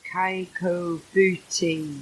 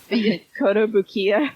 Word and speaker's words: Kotobukiya: I got the Princess Leia one at the Kaiko Booty. I can't pronounce that. Kotobukiya. That's the one.